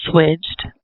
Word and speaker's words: SWIGCH'D: up with the with the name well it's pronounced switched and it means to switch or change your